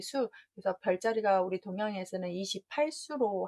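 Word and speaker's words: 宿: 신수열장이라고 했는데 여기서 중요한 부분은 별자리가 약간 발음이 바뀐다는 거. 진 발음으로 하셨다면 신을 하셔야 되고 잠잘 숙을 하셨다면 별자리 수.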